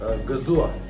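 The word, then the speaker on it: Gëzuar: Gazua.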